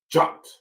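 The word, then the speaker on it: khat: It's spelled K-H-O-T, but it's pronounced in their language, jot.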